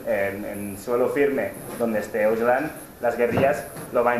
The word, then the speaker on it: Öcalan: Pero sí que es interesante remarcar que desde el encarcelamiento, Öcalan, la C se pronuncia como ya en kurdo, por eso hablamos de Abdullah Öcalan, hace una llamada a